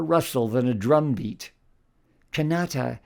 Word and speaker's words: Kanata: than a drum beat canata is gentler than Canada and more balanced with a second syllable stress canata rather than the first in English Canada or the third in French Canada this new sound can